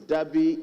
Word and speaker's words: Deby: His Deby is spelled D-E-B-Y. There's no R. There's no R in his Deby. It's Deby, D-E-B-Y.